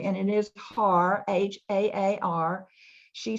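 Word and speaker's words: Haar: And you'll notice I'm saying, I've checked with her a couple of times to make sure we're pronouncing her name correctly. And it is Har, H-A-A-R.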